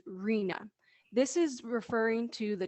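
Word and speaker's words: RHNA: needs allocation with the acronym r h in a and commonly pronounced as rena this is referring to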